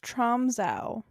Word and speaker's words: Tromsø: It's pronounced Tromsø.